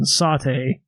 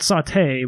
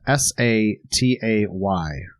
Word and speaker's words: satay: bit of a controversy on how that's actually pronounced and we kind of settled on satay not saute but satay i believe yeah so why don't you spell that for us s-a-t-a-y satay sauce and this is a um an